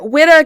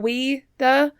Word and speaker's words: Whydah: country of benine and widda guys is spelled wh y d ah so um you also could see uh frenchspeaking people spell it o UI so weda kind of weeda um but so those